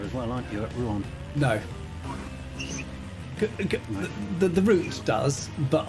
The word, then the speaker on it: Rouen: There's another mega loop here, which is going into Rouen, to give it its proper pronunciation.